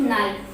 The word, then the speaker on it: knife: फिर उसके बाद है नाइफ, एन की सांस्कृत, आई की सांस्कृत और ये एफ की सांस्कृत और ई, KNIFE नाइफ। के साइलेंट हो जाएगा और ये नाइफ।